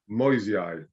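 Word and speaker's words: Moyesii: So the Y and the E is sort of hardly pronounced really. I suppose it's just, you could say it's MOY, Moi, and then the S is a Z, a Z, Moisei.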